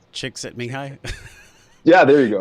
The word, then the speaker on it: Csikszentmihalyi: book Flow, by the guy, I can never pronounce his name, Mihaly Csikszentmihalyi. I think it's Csikszentmihalyi.